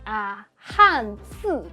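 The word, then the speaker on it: 汉字: Chinese characters, 'han zi' with a forced tone. But I've heard and seen so many Chinese learners pronounce it or type it as (speaking Chinese) with a neutral tone.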